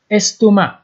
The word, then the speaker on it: estomac: انگلیسی هم میگن stomach اینجا هم قسم نشته میشه فقط اش آخرش نشته نمیشه ولی سه تلفظ نمیشه استومه لستومه جی مال ا